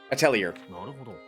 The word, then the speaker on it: atelier: So, yeah. Atelier. Or Atelier. I think both pronunciations are okay.